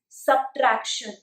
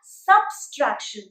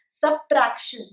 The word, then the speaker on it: subtraction: Note that the pronunciation of subtraction is subtraction. It is not subtraction. There is no S after sub, hence do not make the sound of it. It is subtraction.